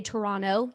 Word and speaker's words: Toronto: Scott did you know you need to say Toronto you cross out that T at the end interesting I didn't